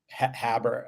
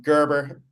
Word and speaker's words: Gerber: Habber. Um Gerber is how is how we pronounce it, how I pronounce it.